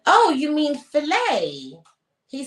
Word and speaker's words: filet: about the fact that the word filet you don't pronounce the tea so we're talking about